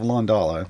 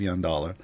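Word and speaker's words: Yondalla: at here is uh what i commonly mispronounce as the yuck of londola and it's the luck of young dollar so uh opportunity cornucopia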